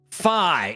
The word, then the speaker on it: Fi: It is officially rhyming with Pi. Fi is our guy.